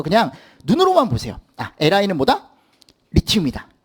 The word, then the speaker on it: 리튬: 리튬? 이거 읽을 줄 알아야 돼. 알았지? 이거 Li라고 읽으면 안 돼. 뭐라고 읽어야 돼? 리튬이라고 읽어야 돼요.